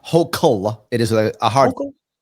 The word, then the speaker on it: Hochul: Her name is pronounced Hochul. It is a hard. Hochul? It's pronounced Hochul. Yes, like yokel, Hochul, like that.